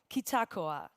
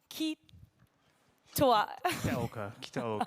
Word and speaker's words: Kitaoka: It is my pleasure to turn the floor over to Kazuki Kitagawa. Oh, sorry, I pronounced your last name wrong. Kitaoka. It's a little bit like kinoko, like the thing that we saw before.